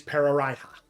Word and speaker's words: Pararaiha: And you know that the capital city is Pararaiha. I can spell that out if you would like me to. Sure. It is Pararaiha. Like piranha, but not.